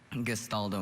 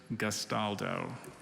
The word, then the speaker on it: gastaldo: is correct hello hi abby last gastaldo gestaldo may i have the definition a steward in a nobleman's household gestaldo may have the language of origin it's from